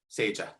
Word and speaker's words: Saja: want to say my name is pronounced saga saja just so everyone knows thank